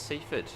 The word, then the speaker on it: Seaford: This is Seafford. Ford.